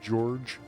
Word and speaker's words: Georg: you doing I'm Georgian it's actually pronounced George it's been too polite